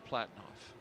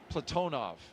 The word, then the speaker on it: Platonov: Aayoui, and Rosscosmos cosminaut Alleg Platinoff. Platonov. I corrected my pronunciation yesterday and I slipped back into Americanizing.